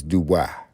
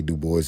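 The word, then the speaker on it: Du Bois: Web the boys pronounce his name surname Dubo but it's Duba cuz it's French. It don't matter how you pronounce it. It's a French word. So it's pronounced the way it's pronounced in French. I mean you can say do boys in English I guess rather than the etm etmology etmologically etmologically.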